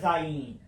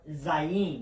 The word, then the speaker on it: Zayin: is i in because the i is always pronounced as an e in the hebrew the meaning of zyein it's a sword or